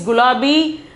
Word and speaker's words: गुलाबी: The pronunciation is gulabi.